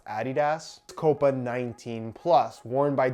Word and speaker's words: adidas: this is the adidas it's actually pronounced a ddos copa 19 plus worn